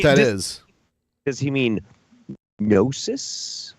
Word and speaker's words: gnosis: Does he mean gnosis, like gnosis With a K? Is it spelled? Does it have a silent K at the beginning of it? No, it's GNOSIS. Oh. Gnosis.